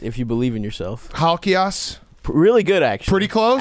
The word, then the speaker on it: Halkias: Halkias? Really good, actually. Pretty close? Actually, that's how it... The as is a real Greek pronunciation. Most people butcher it. You nailed it. Okay. Yeah. Stavros Halkias.